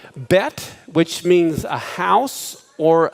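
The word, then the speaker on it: בית: in the middle uh the letter bet can also be pronounced with the v as vet but when they don't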